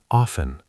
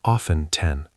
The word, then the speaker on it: often: Often, pronounced often, or often 10. Both okay, but often more common.